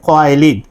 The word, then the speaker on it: খোয়াইলিদ: খাদিজা বিনতে খোয়াইলিদ, যেটা আমরা উচ্চারণে একটু ত্রুটি করি, আসলে মূল শব্দটা হচ্ছে খাদিজা বিনতে খোয়াইলিদ।